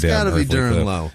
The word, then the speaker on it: Durenleau: Durenleau. Okay. Durenleau? Durenleau. Yeah. Durenleau. Durenleau? Durenleau. Oh, let's call it Durenleau. It's Durenleau. Duren, That's French. Okay. That's some French shit.